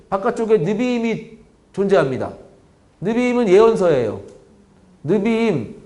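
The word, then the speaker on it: נביאים: 니베임이 존재합니다 느림은 예언서예요 느비인 이거를 약하게 읽으면 내비임이라고 읽고 하는데 예언서 예언서가 좀 다르죠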